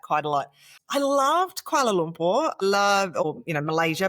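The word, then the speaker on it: Kuala Lumpur: I loved Koala Lumpur.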